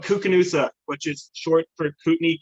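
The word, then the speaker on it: Koocanusa: you went out to some place called like kick canoe cos yeah how do you say it cuca noosa KU Knudsen it's where it's called cuca noosa which is short for Kootenai candidate you would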